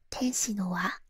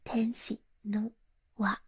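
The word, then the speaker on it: 天使の輪: Instead of saying tenshi no wa, that's how you say it in Japanese, tenshi no wa, she said hello instead.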